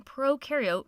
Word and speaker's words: prokaryote: like to remember that pro in prokaryote rhymes with no and you in eukaryote